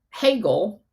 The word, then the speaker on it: Hegel: And another name for that is the I always pronounce this wrong. Hegel, the Hegelian dialect, where you can create these